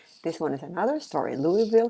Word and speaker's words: Louisville: one is another story Louisville Kentucky silent s I know that so